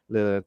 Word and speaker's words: Lillard: might be sequels as Matthew Lillard, if I pronounce it, who Lillard. plays Lillard.